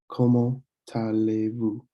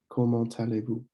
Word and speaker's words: comment allez-vous: And when you see the T follow or a consonant followed by the vowel, you'll want to link those sounds. So you could say comment allez-vous, comment allez-vous.